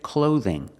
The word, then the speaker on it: clothing: Pronunciation, clothing. Use the long O like no and go. Use the TH with a voice, th, like this and that.